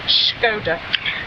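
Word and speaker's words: Škoda: But interesting that you should pronounce it shodda. Yeah. Ant reckons that because that's a sh sound.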